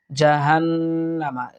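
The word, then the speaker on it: جَهَنَّمَ: আযাবু জাহান্নামা, দেখুন আযা এক আলিফ টানবো, জাহান্নামা ওয়াজিব গুন্না, এখানে আমরা এক আলিফ পরিমাণ টানার চেষ্টা করব।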